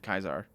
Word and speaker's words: Caesar: kaizar caesar i don't i wonder also wonder why he pronounces it kaizar but cause caesar i was wondering if